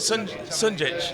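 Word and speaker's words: Šunjić: Is it Sunjic?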